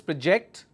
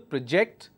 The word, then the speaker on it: project: the first one is project because I am stressing on the second syllable project and the second word is project so either I say project or I say project there is a difference all right so what